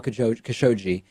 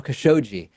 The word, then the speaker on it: Khashoggi: the killing of Jamal Kokoschka Shoji notice how I've updated my pronunciation now Khashoggi Trump said it could